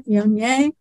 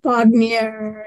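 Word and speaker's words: Viognier: a hard one to pronounce and it's v-i-o-g-n-i-e-r Pyongyang and people pronounce it all different ways like bognier and all sorts of things but one time somebody came in and asked for that vaginaire why so that lives on there are no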